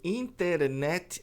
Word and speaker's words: internet: Doutor, por que os americanos pronunciam internet assim? Internet. Internet. Cadê o T?